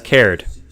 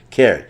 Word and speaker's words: Caird: That's a Scottish name. Is it Card or Caird? Do you know how to pronounce that, John? I believe that's Caird. Caird. Caird.